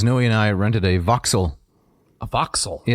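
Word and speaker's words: Vauxhall: UK uh Mrs Noy and I rented a voxel a voxel yeah it's v u x h a l l I believe is the spelling but they pronounce it voxel as only the British wood yeah right and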